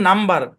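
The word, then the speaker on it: number: উচ্চারণ ঠিক রাখতে হয় বুঝছেন আর এখানে দেখেন নাম্বার এখানে কিন্তু শব্দের মাঝখানে আছে এমবি কিন্তু উচ্চারণ হবে না কারণ কি জানেন এই সাইন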